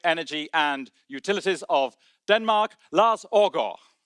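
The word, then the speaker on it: Lars Aagaard: Ladies and gentlemen, please now welcome our host, the Minister for Climate, Energy, and Utilities of Denmark, Lars Orgo.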